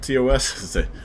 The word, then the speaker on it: TOS: So I already got, it's called TOS? Rhymes with POS.